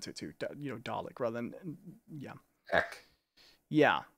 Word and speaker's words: Dalek: it too, you know, Dalek, rather than, yeah. Ek. Yeah, I don't hear the X sound that much. Ek. Dalek. Yeah. In fact, I don't like it pronounced like that. I like a Dalek.